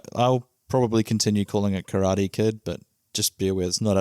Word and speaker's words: karate: I'll probably continue calling it Karate Kid, but just be aware it's not out of ignorance. I do know that the correct pronunciation is karate. Not to big league anybody who doesn't speak Japanese. But the reason I wanted